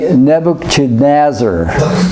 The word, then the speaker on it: Nebuchadnezzar: sir oh boy nah broken noses okay we pronounce it actually Nebuchadnezzar okay never Chen azor because different people in